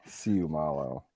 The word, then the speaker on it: Seumalo: Issac Seumalo. Did I get it, Neil? I believe so. I have heard Seumalo and I've heard Seumalo, but the accent on the second syllable of that is correct. Excellent. Seumalo.